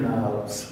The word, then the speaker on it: Knobs: Knobs with K in front. But we don't pronounce the K, it's silent.